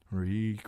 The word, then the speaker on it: Reek: Reek, reek, it rhymes with leak.